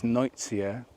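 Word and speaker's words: Nuytsia: The botanical name for these is Noitsia, which is spelled N-U-Y-T-S-I-A.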